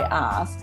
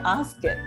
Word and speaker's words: asked: yesterday you say i i personally say i asked but i know a lot of people will say i ask it right yes exactly and